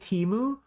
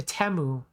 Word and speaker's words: Temu: anyone else notice that last year the commercials for teu pronounced it teu and now the commercials for teu pronounce it temu why do they change it from Teemu to temu in their YouTube advertisements